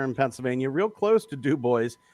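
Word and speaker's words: DuBois: D U B O I S. Right. How would you guys pronounce that?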